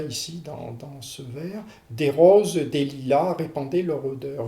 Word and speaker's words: roses: Vous êtes obligé de prononcer le mot rose, mais vous ne pouvez pas réaliser ou difficilement réaliser un temps d'arrêt correspondant à la virgule ici pour prononcer le E du mot rose. Or, vous devez obligatoirement le prononcer, ce E, sinon il va vous manquer une syllabe.